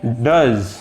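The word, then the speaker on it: does: इसके कुछ एग्जाम्पल देख लेते हैं, जैसे कि डज, डज, डू, ओ के बाद ई आ गया, अ आवाज आई, अ, डज, ठीक है।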